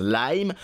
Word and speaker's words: Lime: La société américaine Lim... Hey, oui, pendant toute cette vidéo, on va dire Lim alors que le nom de cette entreprise se prononce Lime.